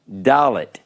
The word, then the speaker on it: Dalet: Dalet.